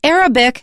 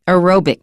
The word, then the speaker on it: aerobic: Don't say Arabic because that means a person who is an Arab is Arabic, or the language is called Arabic. Arabic, aerobic. Make sure that you keep those apart. All right, so martial arts